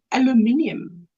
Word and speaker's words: aluminium: No, we say aluminium, Yes, aluminium.